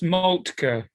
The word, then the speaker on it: Moltke: Just that's Moltke.